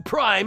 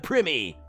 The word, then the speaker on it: Prime: So much so they changed the pronunciation to Prime instead of Primi.